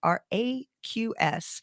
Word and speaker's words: Raqs: Cairo or Vanessa Raqs, which is not spelled the normal way. It'd be Raqs. Oh, I pronounced it wrong earlier. Raqs Sharki is the Egyptian word for dance.